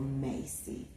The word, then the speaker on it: Macy: name but it's actually just simple Macy like the department store you know Macy's okay so um I